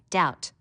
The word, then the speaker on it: doubt: You should learn how to spell doubt. Notice the silent B.